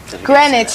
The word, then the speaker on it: Greenwich: Greenwich. You said Greenwich. Greenwich. Bob. That's all right. Sorry. The W is silent.